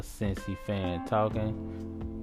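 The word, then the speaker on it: Cincy Fan Talkin': That's a Cincy Fan Talking. You say it like it sounds, just leave off the G.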